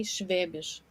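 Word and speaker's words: Schwäbisch: Fabian or swabian um you in German you would say schwebish yeah but so I mean it belongs to the alemanic dialects so swabian would be an English pronunciation yes swabian okay so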